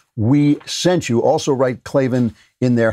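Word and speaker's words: Klavan: the parts available for your car truck right clavin in there how did your in there how did you hear about us box so they know we sent you also write clavin in there how do you spell clavenbach so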